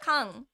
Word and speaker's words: 缶: Kan. We say kan. The same as English, but we have kanji.